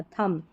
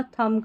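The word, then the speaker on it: thumb: इसको थंब नहीं पढ़ना, थंब। यहाँ पर भी जब भी किसी स्पेलिंग में MB आखिर में आता है तो यहाँ पर B साइलेंट रहता है, थंब, ब का उच्चारण नहीं होगा, थंब करके पढ़ेंगे, थंब।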